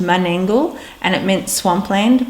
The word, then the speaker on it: Menangle: different to now and mangle was actually pronounced mangle and it meant swamp